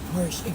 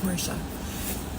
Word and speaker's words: Porsche: I say Porsche. Xavier says Porsche. To me, the word Porsche would be spelled Portia. If you're going by the English pronunciation.